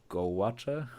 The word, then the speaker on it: gouache: distinguish like your gouache, how to pronounce it?